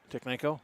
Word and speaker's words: Tiknenko: Am I pronouncing that right? Which one? Tiknenko? Yeah, you're getting it dead on right.